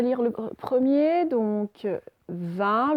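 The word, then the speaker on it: vingt: Alors, vous avez réussi à lire le premier, donc 20. Le G et le T ne se prononcent pas, donc ça fait 20.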